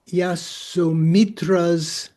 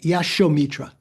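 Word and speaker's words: Yaśomitra: Um in this he quotes the uh Yasum Yasumitra's commentary to the Abid Dharma Kosha. Am I pronouncing that right? Is it Yasumitra? Yashomitra Yashomitra was a commentator of Abid Dharma Kosha.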